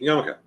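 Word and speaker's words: yarmulke: Pronounce it right. Yamok yamoka meaning awe of the king.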